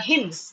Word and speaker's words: hymn: we chant are called hymns. All right. So hymn, அப்படிங்கும்போது you can see that Y is considered to be a vowel because hymn. him அப்படிங்கும்போது அந்த HIM him மாதிரி இருக்கு நம்ம pronunciation.